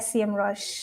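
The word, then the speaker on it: Semrush: it that's been the I I call it sem Rush Oh okay interesting that's been the conversation on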